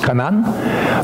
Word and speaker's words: Canaan: Canaan, actually, is pronounced Canaan.